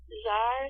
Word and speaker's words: Zar: How did you pronounce his name? Zar? Zar, Z-A-R.